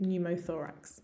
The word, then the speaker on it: pneumothorax: that of pneumothorax pneumothorax again lots of letters it's you can ignore the p and the e and just think pneumothorax okay so let's have